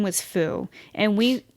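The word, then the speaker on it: Fuu: Like, so my old dog's name was Foo, and we spelled it F-U-U, but what I see everywhere now is F-O-O, which is how people would spell it, you know.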